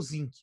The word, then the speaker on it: Zinck: grande democratização, é o Zinck, um filósofo americano no meio do século XX. Aí o cara... Como se escreve isso? Z-I-N-K, igualzinho zinco, tipo do elemento químico.